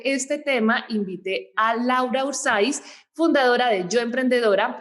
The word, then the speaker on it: Urzaiz: espero haber pronunciado bien tu apellido si las pronunciado genial urzaiz siempre cuesta pero pero sí dado esto genial